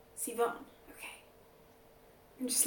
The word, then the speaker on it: Sivan: It took me a long time to learn how to pronounce Sivan. I was like Sivan, Steven, Seven.